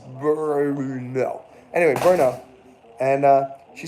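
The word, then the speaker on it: Brno: I said oh where's berno that's I think it's like the only city in the world world that has no no uh like lacking syllables it's b r n o Burno anyway berno and uh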